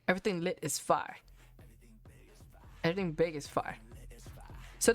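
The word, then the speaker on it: Fya: Fire is spelled F-Y-A. So my first impression when I read that, I thought it was F-Y-A. I thought it stood for something. And then I heard the song.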